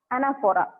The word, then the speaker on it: anaphora: You write the name as anaphora. ANAPHORA. Second is this. ಈ particular poetic device use ಮಾಡಾರ. ಅದರ ಅರ್ಥ ಏನು ಅಂದ್ರೆ anaphora. Pronunciation is THO ಇರೋದ್ರಿಂದ ಪ ಸೌಂಡ್ ಬರ್ತದ. anaphora.